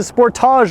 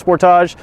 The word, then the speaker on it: Sportage: watching from the states you're gonna tell me I'm staying Sportage wrong I'm actually saying it right let's just not argue I live in Canada sport ologist the way you say it it's just the Americans that say it wrong so there you go